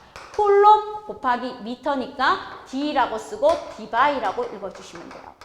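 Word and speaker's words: Debye: 쿨롬 곱하기 미터니까 D라고 쓰고 디바이라고 읽어주시면 돼요. 디바이.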